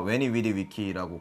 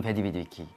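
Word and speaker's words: veni, vidi, vici: 고대 라틴어가 웨니 위디 위키라고 발음을 하면 되는 거예요.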